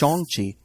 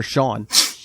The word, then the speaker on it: Shang-Chi: about bounce philip what shenchi oh religion yes yes or or should we put it back or did you not pay attention to the movie it's shangchi or sean it's all regional pronunciations to be fair this